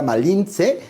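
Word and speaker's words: Malintzin: paréntesis paréntesis no pues Malinche no se eso lo dijeron los españoles era malince y que realmente era la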